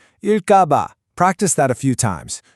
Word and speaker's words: 을까 봐: That first sound in ga isn't a soft G sound. It's a tensed ge sound. So you really want to hit it. 일까봐. Practice that a few times. 일까봐.